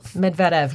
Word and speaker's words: Medvedev: Medvedev, yes. Okay, there's an emphasis on that second syllable.